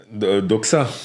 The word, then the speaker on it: Doxa: Et je te laisse prononcer le nom du club parce que j'y arriverai pas. Euh, Koto- ouais. Doxa.